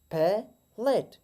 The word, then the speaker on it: palate: इसका wrong pronunciation palate, palate, जबकि right pronunciation इस तरह होगा palate. हम T को flat D प्रोनाउंस करेंगे।